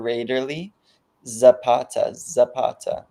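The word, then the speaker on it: Rayderley Zapata: It's Raiderly, like Ray is a nickname for Raiderly. Zapata.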